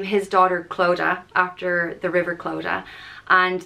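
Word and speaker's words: Clodagh: nashan Raha became kilishandra the next name is cloda and this is a very popular name in Ireland today it's spelled c-l-o-d-a-g-h and it's pronounced chlo da cloda and this is a river in County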